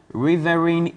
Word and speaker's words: riverine: it comes to the riverine areas and areas difficult to reach, like the Dwarf Island in the Afram riverine Place. areas. The riverine areas. Riverine. Yes. That's the pronunciation.